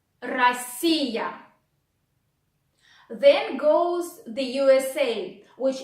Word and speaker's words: Россия: Then O, which goes after R, you want to pronounce like A. So you say Россия, Россия, Россия.